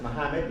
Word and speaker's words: Mohammad: Muhammad as you heard I pronounce it Muhammad because I was born in Saudi Arabia and I feel completely